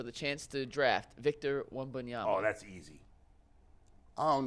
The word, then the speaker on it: Wembanyama: His name is Wimbledon. Victor Wimbledon, if he like... Hey, put it back up. It's exactly how it's spelled. I don't know. Victor Wembanyama. Y'all got Wembanyama. I'm saying it right. Wembanyama.